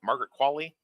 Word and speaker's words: Margaret Qualley: What's your take on Margaret Qualley? Did I say her name right? Margaret Qualley?